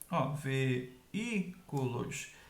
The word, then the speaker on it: veículos: Veículos é proparoxítona, mas também o I é a segunda vogal do hiato, está sozinho na sílaba, é a sílaba mais forte e não tem NH depois, por isso recebe acento, beleza?